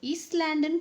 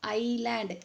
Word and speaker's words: island: ஈஸ்ட்லேண்டுன்னு படிக்கக்கூடாது. You have to pronounce like ஐலேண்ட். எஸ் is silent here.